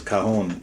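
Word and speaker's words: cajón: I'm glad you said it right too cuz kahon is the drum and is something totally different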